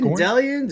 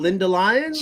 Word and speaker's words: Lindellians: Is it Lindellians? It's not Linda Lyons.